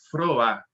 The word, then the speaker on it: Froá: se não me engano, é Froá, que se pronuncia o sobrenome dela.